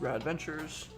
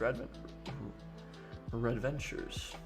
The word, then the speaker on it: Red Ventures: I know you recently published an article regarding her business, Rad Ventures. Red Ventures? Yeah, it's Red Ventures.